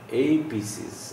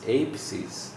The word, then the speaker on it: apices: We pronounce it like apices, apices, apices.